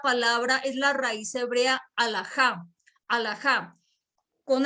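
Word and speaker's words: halajá: es la raíz hebrea alajá, alajá, con H al comienzo y con H al final, con J y con tilde en la A, tal cual como suena, alajá.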